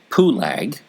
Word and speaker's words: Peleg: For this reason, he called his name Peleg, which means it was divided. Same name is actually Pulag in pronunciation in Hebrew, and that's a mountain in the Philippines that somehow got that name.